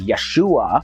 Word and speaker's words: Yeshua: probably unable to pronounce his Hebrew name which was yahshua also pronounced as Yeshua but when the name is